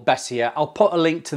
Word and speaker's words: Beissier: to pronounce that and my wife says it's pronounced bessia bessia now if you Google